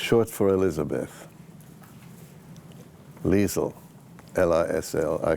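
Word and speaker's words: Liesl: Liesel is short in Austrian, which is the same as German, except it's different pronunciations. It's short for Elizabeth. Liesel, L-I-S-L.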